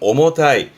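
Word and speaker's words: 重たい: 발음은 오모타이.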